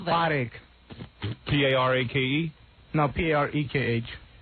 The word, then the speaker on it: Parekh: Spell that. Potache. P-A-R-A-K-E? No, P-A-R-E-K-H.